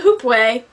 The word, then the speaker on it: hoopoe: Archives' Memory of the Hoopoe. I think I pronounced that right. The sad thing is I've heard the author say the name a couple times. But it's even phonetically said in the book.